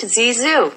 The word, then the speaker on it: Zizou: It's pronounced Zizou, you absolute twat.